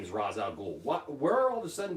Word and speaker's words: Ra's al Ghul: start calling him race I started calling him Rachele ghoul like that's not his name is Ra's al Ghul everybody knows his name is Ra's al Ghul what where all the sudden did this stupid